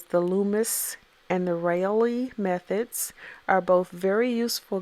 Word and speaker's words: Reilly: Reilly. It could be just pronounced Riley. Um, that's probably what it is, the Reilly method.